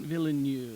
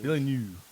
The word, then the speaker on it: Villeneuve: Villeneuve. Villeneuve.